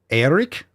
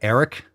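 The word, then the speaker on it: Airik: Eric? Are you telling me you're supposed to pronounce that Eric? Oh man, your mom just wanted to be so different, didn't she? Eric. It's A-I-R-I-K.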